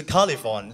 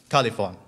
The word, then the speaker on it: Calyfon: Calyfon is a pronunciation of a Cantonese, Calyfon. In Mandarin, it is called Zha Li Fong.